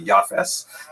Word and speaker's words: Yafes: Uh he has a son named Jaffith in the Ashkanaz pronunciation that would be Yafes.